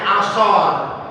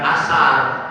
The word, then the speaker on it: ashar: Nah itu dibacanya asor, bukan asar, tapi asor.